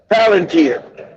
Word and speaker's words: Palantir: Planta Plantia gives ICE, if I'm pronouncing, I don't know if I'm pronouncing that correctly.